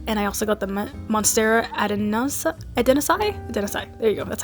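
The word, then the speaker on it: Monstera adansonii: So I got the Monstera deliciosa, and I also got the Monstera adenosai.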